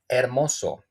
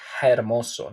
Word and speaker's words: hermoso: Osa and once again when you will find the H in Spanish it don't pronounce any any well in most of the cases again it don't you will not pronunce it with some phonetical uh sound okay hermoso it's like not hermoso no hermoso neutral again Oso or Osa Oso